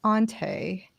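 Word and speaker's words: Hante: uh her name is ante with an h because it's french h is silent right but she's actually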